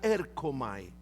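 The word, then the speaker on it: ἔρχομαι: es una forma de un verbo que se pronuncia erkomai.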